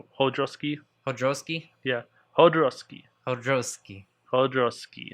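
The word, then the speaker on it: Jodorowsky: again i think it's people say hodorovsky but i think it's mainly i think it's more of hodroski hodrowski yeah hodarovsky hodroski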